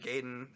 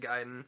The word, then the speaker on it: Gaiden: And I I grew up saying Ninja I I I grew up saying Ninja Gayden. So, and then I found out later in life it was Ninja Gaiden.